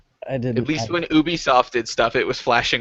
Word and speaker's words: Ubisoft: had you seen how bad EAS was it's pronounced Ubisoft you're right it's it's hard dude it's really